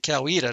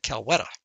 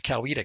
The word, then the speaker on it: Coweta: a county called Coweta the local ones pronounce that Coweta now the people looking at that would probably said Cal weather but if you live there it's Coweta County range okay so